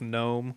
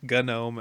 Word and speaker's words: GNOME: So actually, it's hard G for both gnome, gnome, and Mm. GNU.